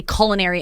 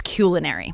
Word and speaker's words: culinary: And one I remember was people say culinary and it's culinary.